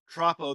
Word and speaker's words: Troppo: So your most recent project is, let me know if I'm pronouncing it correctly, Troppo?